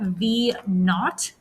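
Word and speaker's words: v₀: that you say that that's zero there you pronounce that v naught okay so this guy right here you pronounce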